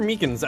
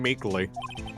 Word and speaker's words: Meekins: for it actually officer meekins at the detention center told us ah that poor little doji yeah i kept getting his name wrong calling him meekly that's kind of like